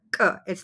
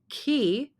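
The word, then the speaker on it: კი: It's not ki, it's ki. So there is some sort of pressure that you are building up before you are pronouncing the letter, instead of this puffy puff of air that would come out if I used the aspirated letter K, which would be K.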